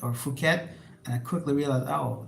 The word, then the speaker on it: Phuket: used to call it Phuket or Phuket, and I quickly realized, oh, the H is silent in many of the PH words or town names and other names in Thailand.